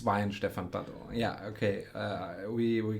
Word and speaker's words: Weihenstephan: saint stephen saint stephens and um so it's wayne stefan yeah okay uh we we get it a